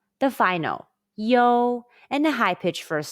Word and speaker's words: iu: letter iu in pinging the pronunciation is yo it's a combination of the mandarin chinese e and o sounds say yo it's like the yo in the english phrase yo check this out say yo now mimic